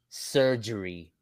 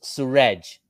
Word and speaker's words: Suraj: Heck, the other day somebody pronounced my name as surgery. Can you believe that? Surgery. I told him, no, it's Suraj, not surgery.